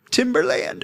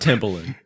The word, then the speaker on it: Timbaland: And I'm like, Timberland. Okay, we have that one. Okay. It's pronounced Timbaland. All right.